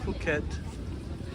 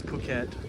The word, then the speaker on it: Phuket: at K beach in puket no it's puket I keep well I stopped mispronouncing it this morning and I started again so the H is silent so it's pukat Thailand and uh I've